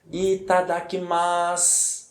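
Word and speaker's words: いただきます: a sílaba que lembrando quando nós temos a sílaba se no final de uma palavra a sílaba se fica com som de s Ok portanto a pronúncia é correta é e tá daqui mais Eta tá aqui mas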